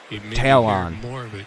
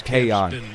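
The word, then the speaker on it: Taillon: How the hell are you supposed to pronounce Talon? How you ever going to know that's Tayon? And you know what? He's probably one of the people that go, actually, my last name is Tayon.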